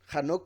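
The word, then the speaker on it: חנוך: En el libro de Hanoc vemos que a Azazel, Hanoc por si algo es la pronunciación de Enoch, a Azazel lo culpan por todo el pecado de la humanidad.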